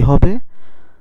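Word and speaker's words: who: WRONG উচ্চারণ কি হবে? তাহলে উচ্চারণ হবে, ডব্লিউর উচ্চারণ হবে না, কারণ আমরা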